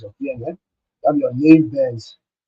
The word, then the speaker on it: naive Bayes: KNN, you have your naive Bayes, some people call it naive bias, as it is naive base. That's how Mr. Blessing pronounced it.